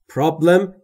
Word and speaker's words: problem: Problem یعنی مشکل و تلفظ درستش problem. پرابلم یا چیز دیگری نیست. Problem. بین P و R صدایی وجود نداره. ما هم صدایی اضافه نمی کنیم.